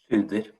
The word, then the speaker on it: Tsjuder: First of all, how is the correct pronunciation? Tsjuder or Tsjuder? Tsjuder.